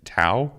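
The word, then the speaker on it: Touw: was twee t-o-u-w i don't really know how to say it tau well thanks you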